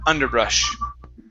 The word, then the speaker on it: underbrush: underbrush and underbrush okay so instead of underbrush hey give me an uh sound underbrush underbrush okay very good